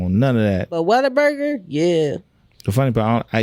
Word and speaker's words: Whataburger: I say it like Whataburger. Like what? Whataburger. Waterburger? No, Whataburger.